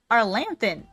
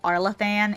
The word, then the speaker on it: Arlathan: I kept calling it Arlanthan. which I heard people say that before, but it's not actually pronounced that way. I'm pretty sure it's like Arlathan, and I kept pronouncing it wrong in the last video,